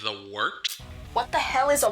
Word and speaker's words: Wørt: It is the Wort. Not wart, not fort, not short.